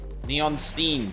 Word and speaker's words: Neon Stein: Neon Steen, because it rhymes with Steen.